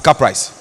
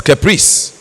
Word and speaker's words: caprice: Because I don't want any student from this constituency to pronounce the word CAPRICE as caprice, when it is caprice.